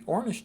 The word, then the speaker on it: Ornish: we'll call it the ornish diet and Stress Management I always tell people ornish rhymes with Cornish because they'll remember that